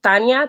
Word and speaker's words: Tanya: it's actually was interesting I pronounce my name Tanya Tanya but it's spelled with a Y but my mom loved